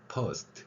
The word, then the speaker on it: first: 거기에 모음을 넣어야 된다 해가지고 first 이렇게.